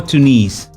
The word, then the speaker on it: Tunis: Do you pronounce it Tunisia or Tunis? In Arabic is Tunis. Tunis. Yeah, in Arabic is Tunis. So wait, Tunis, the capital, or Tunisia? The capital is Tunis. The country is Tunis.